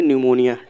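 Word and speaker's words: pneumonia: जाएगा देखिए यहां प पी हमारा क्या है साइलेंट है इसको पढ़ेंगे न्यूमोनिया ठीक पी हमारा साइलेंट है क्वेश्चन नंबर थ्री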